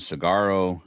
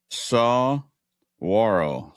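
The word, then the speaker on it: saguaro: And he said um that I pronounced it cigaro. Um, uh, cactus is pronounced and he says it's saw warro sarro saw.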